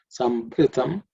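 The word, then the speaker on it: sambhṛtam: sambhru This bhru is that bhra in that bhru. It's the fourth letter in the pavarga, so it has to be aspirated. sambhrutam prusha Say prusha.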